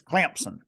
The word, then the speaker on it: Clemson: It's Clemson. You got to put a P yeah.